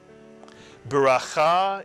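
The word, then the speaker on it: ברכה: That's the chaf with a kamatz followed by a hey, and a hey is silent at the end of a word. Cha. So put the word together. Bracha is correct.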